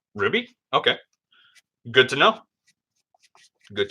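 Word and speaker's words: RWBY: but yeah that's that's also how you typically pronounce the name of the show Ruby okay good to know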